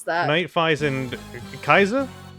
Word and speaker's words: Kaixa: That's I forget how to pronounce that. Night Fies and Kaiza? Kaiza, yeah.